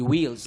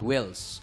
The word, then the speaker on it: wheels: mo ipronounce ng tama Wheels should be Wheels not whs long e Yun lang naman enunciation